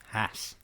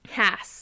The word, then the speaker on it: Hass: Hass. Hass. Hass. Rhymes with pass.